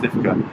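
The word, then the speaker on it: Stiffkey: Because you can go to Stifka, just down the road. Stifki? It's called Stifki, but it's pronounced Stifka.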